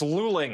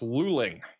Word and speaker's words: Luling: I have a lot of people saying it's luling. I think I got it now. It's luling. Luling.